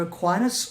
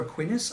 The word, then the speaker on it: Aquinas: It's either Aquinas or Aquinas. I'm pretty sure it's Aquinas, as in Thomas Aquinas, who was also briefly mentioned in House.